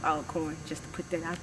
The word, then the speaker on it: Alcorn: carter aka alcorn but the college is actually pronounced all corn just to put that